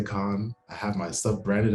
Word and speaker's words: Kaun: or say it wrong it's the k-a-u-n yeah period so what do people say like what are they saying instead of con uh my friend nigel